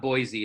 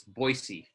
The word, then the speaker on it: Boise: big I've ever been boys pronounce Boise oh it's not Boise it's Boise Pocatello we have other